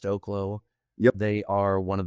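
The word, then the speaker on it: Oklo: I think the industry on the whole needs to do better, but Oaklo, I think it's pronounced Oaklo.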